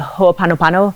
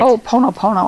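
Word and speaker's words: hoʻoponopono: is also in uh ho apanopano i consistently pronounce this wrong yeah but oh ponopono i think that's how i pronounce it yeah i hear it different ways yes so um anyway but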